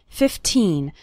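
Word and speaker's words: fifteen: 15 minutes a day remember to pronounce the second syllable of 15 nice and strong 15 not like 50 which is a different number 15 minutes a day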